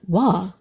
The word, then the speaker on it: Waw: Way to finish strong.